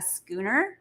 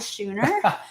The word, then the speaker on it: schooner: sailboat is called a schooner yeah not a shooter right i actually had to spell it schooner like sk because i was mispronouncing it but we hopped aboard